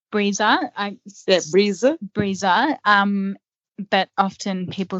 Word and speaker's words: Brisa: to get it wrong so yeah it's it's pronounced breezer breezer um but often people say brisa because that's how it's spelled b-r-i-s-a um breeza